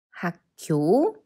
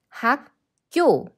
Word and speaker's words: 학교: Sometimes Korean words that are spelled with these should be pronounced with these because the previous syllable affects the sound of the next syllable. Do you say it 학교? No, it's 학교.